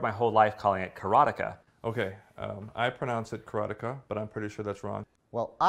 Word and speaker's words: Karateka: A lot of people say Karateka, or Karateka. In Japanese, there's no stress on any syllable, so it would be Karateka, something like that.